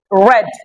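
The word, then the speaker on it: red: জীবের সঙ্গে জড়িয়ে বের করছে রেন কি হবেন উচ্চারণটা ভালো করেন ঠিক আছে রিগেন কি হবে regain regain রেড রেড colour রেড কি কালার রেড কালার রেড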